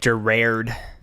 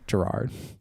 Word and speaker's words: Gerard: what i said gerard did i say it wrong you said like gird i'm sorry gerard mariano ron fish winifred